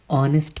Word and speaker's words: honest: ऑनेस्ट person. ध्यान देना इसकी स्पेलिंग तो H से स्टार्ट होती है, HONEST, लेकिन H यहाँ पे साइलेंट होता है।